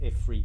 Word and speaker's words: Ifrit: Okay, it's pronounced Ifrit now.